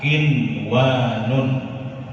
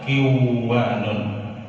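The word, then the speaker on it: قِنْوَانٌ: Kemudian pada kata kinwanun tidak boleh dibaca kiwanun.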